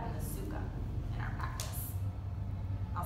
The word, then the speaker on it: sukha: In Sanskrit, we call them the sthira and the sukha in our practice. I'll spell those out for you. Sthira is S-T-H-I-R-A, and that means steadiness. Sukha, S-U-K-H-A, and that means ease.